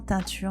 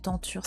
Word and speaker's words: tenture: Les personnages de cette teinture, intitulée l'astronomie, c'est vrai que je dis souvent teinture, mais c'est tenture, c'est mieux. C'est un défaut de prononciation.